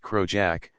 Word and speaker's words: crossjack: and early 19th centuries crossjack pronounced Crow Jack the square sail sometimes